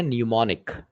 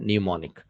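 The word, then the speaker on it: mnemonic: ये वर्ड है, इसका प्रोनाउंसिएशन है न्यूमोनिक। क्या प्रोनाउंसिएशन है? न्यूमोनिक।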